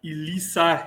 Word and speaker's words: Elissa: Elisa, correct? Yes, you are correct. Yes. It is. It is Melissa without the M is the easiest way to remember it.